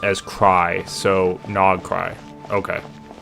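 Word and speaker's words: Nod-Krai: Krill pronounced as cry. So Nog cry. Okay. No cry.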